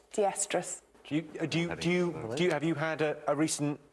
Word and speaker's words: diestrus: And it's pronounced... Diestrus.